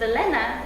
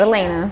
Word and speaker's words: Elena: It's Elena. It's Elena, not Elena.